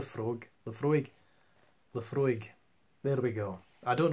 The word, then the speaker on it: Laphroaig: so I'm just going to show you yeah the Frog I would pronounce that as the Frog the Frigg left left okay I'd see my frog but for a week Laphroaig there we go I don't know what that